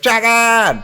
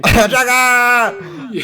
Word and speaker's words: Jagan: It's spelled J-A-G, 5 A's, and then N. So it's like, Jagan! But, you know, we speak English here, so. Dragon! Jagan!